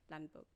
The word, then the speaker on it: Lundberg: Landberg, by the way, just saying. Landberg.